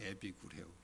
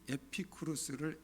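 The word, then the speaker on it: 에피쿠로스: 이렇게 성경 번역이 이제 중국을 통해서 우리나라로 이렇게 들어오다 보니까 중국 사람들은 그 발음을 그대로 안 하고 자기들 식으로 바꿔서 지저스도 야소, 그래서 이제 예수로 바뀌었죠. 근데 에피쿠루스를 에비구레오라고 이렇게 이제 바꾸는 거예요.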